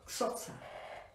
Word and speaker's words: Xhosa: pueblo Zulú, y un pueblo que se llama Xhosa? K-X-O-S-A, digamos, ustedes cómo se pronuncia. Xhosa.